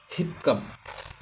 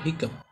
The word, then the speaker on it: hiccup: পাঁচ নাম্বার শব্দটি হল হিপকাপ বা হিকাপ এর উচ্চারণ হলো হিকাপ এইচ I double C